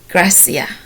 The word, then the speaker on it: gratia: g r a t i a which is pronounced Gracia which means Grace graciousness gratefulness they have gracefully